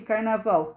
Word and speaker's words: carnaval: Lembrando que carnaval tem som de U, mas é escrito com L.